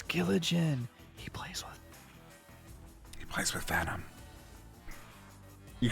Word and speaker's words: Giligin: My name is pronounced Giligin, despite SirDimwi and Five Spotted Dog's insistence.